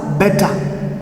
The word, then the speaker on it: beta: you say for example when you pronounce you will pronounce it as bad but when you say it in the greek way it is known as beta now let me stop